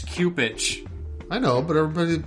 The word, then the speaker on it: Cupich: know chicago i guess why do they call him supage that's not i can't say that well that's what is that's how you're supposed to pronounce that name i don't know it's not a it's cupid it's what oh it's cupich i know but everybody